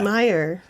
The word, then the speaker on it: Mayer: So there's it's spelled Americans fucking with people from the it's spelled beginning. the same as Meyer, like Oscar Mayer, like M-A-Y-E-R. Mayer. Oh, Mayor? Yeah, Meyer. but it's pronounced Meyer. You know, like the hot So dog car.